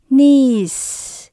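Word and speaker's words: niece: hoặc là cháu ngoại Các bạn nha Mình đọc là knees nhớ có chị áo sẽ cuối cùng mình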